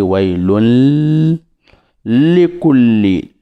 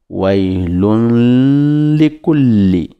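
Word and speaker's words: ويل لكل: Wailun likulli, c'est-à-dire que quand on fait la liaison avec likulli, on dit wailun likulli. Les premières lettres, la première lettre lun, on la fait rentrer dans la deuxième lettre likulli en disant wailun likulli.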